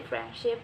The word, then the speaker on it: friendship: But when we say friendship, the d actually disappear or removed.